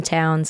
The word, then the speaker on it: Townes: And then Townes, like Townes Van Zandt.